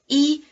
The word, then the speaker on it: 一: E has the falling tone when followed by any syllable except one with another falling tone. Then it has the rising tone.